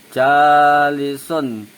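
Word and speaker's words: جالس: Jadi kalau kita baca ja, ayunin dulu huruf ja-nya, terus kita sambungkan huruf li dan sunnya. Jalisun, kurang lebihnya kayak gitu.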